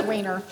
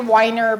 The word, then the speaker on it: Wiener: So I like to refer to him as Senator Scott myself, but his last name is Wiener. Okay, and we even tried to Weiner, but he doesn't pronounce it that way either, so Senator Wiener became the author of our bill.